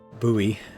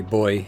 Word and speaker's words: buoy: put it instead of the buoy out there as the Americans say or we say boy in England. But you say the word buoyant, don't you? So like that's why we say boy because it's it's the same thing as buoyant, isn't it?